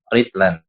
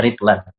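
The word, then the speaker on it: رطلا: Ya, idza qulta ya apabila engkau katakan istaraitu ritlan. Ya. Ada yang baca ritlan, ada juga bisa baca rotlan. Kalau di sini ya bacanya ritlan.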